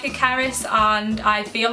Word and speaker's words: Cerys: you guys get a bit caught up in pronunciation sometimes, but yeah, it's Cerys.